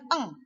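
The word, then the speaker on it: ڠ: Sehingga ini dibacanya eng.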